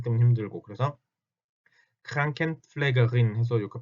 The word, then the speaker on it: Krankenpflegerin: 자, Krankenpfleger에 대해서 그 여성형도 당연히 Krankenpflegerin 할 수 있겠죠. Krankenpflegerin. 이건 발음이 굉장히 까다로운 단어 중에 하나예요. Kranken 할 때 R 때문에 힘들고 플래그 할 때 P